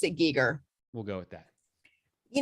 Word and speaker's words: Giger: It's actually pronounced Giger. I've seen it on demand. I'm gonna watch it one of these days. It looks really So good. in that they pronounce it Giger.